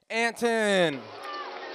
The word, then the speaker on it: Anton: one the only anton said my last name wrong gosh is it anton yep okay anton anton okay whatever